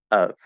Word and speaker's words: of: Of. It's a schwa sound. It's the upside down V sound, which I call a schwa sound. Of. We go right into that upside down V position automatically, okay?